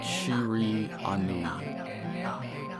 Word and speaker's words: Shiranui: Kind of hard to pronounce that. It's like Shiri Anui.